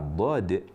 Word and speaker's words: ض: Jadi seharusnya mengucapkan dad dari tempatnya.